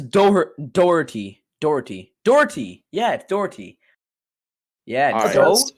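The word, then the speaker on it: Daugherty: i didn't brad daughtery it is definitely not daughter-y bro it's daughter no no it says dougherty dougherty dougherty yeah dougherty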